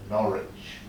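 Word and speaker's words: Norwich: of norid in England you spend nor with the w we English men we pronounce norch beautiful documentation House near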